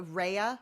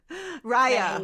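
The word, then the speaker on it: Raya: You're a Rehea. Rya Rya. How do you say it? Rhea girl. I'm on Rya. Rya. It rye like rye bread.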